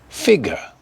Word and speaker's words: figure: Figure, stress on the first, figure, and colour, colour.